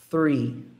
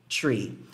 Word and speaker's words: three: é feito com você colocando a pontinha da língua entre os dentes e aí assoprando em Ok E aí depois disso você faz um rim é free free e não three piso não consigo pronunciar